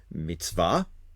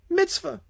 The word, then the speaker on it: mitzvah: a rabbi once say there's actually two words there's mitvah which is the Hebrew pronunciation and then there's Mitzvah which is the Yiddish pronunciation and a Mitzvah is